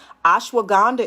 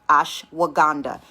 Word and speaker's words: ashwagandha: ashwagandha is also good stress anxiety blood sugar cancer